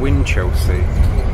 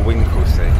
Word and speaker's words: Winchelsea: And we're coming up to Winchelsea, or Winklesea, depending on where you live or how you pronounce it.